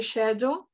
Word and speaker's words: schedule: Se escreve schedule, mas se lê schedule. Lembra da school? A gente escreve S-C-H-O-L. Então, schedule é S-C-H. Então, schedule. Horário.